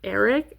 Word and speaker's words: Ark: They got for her third boyfriend Ark, pronounced Eric.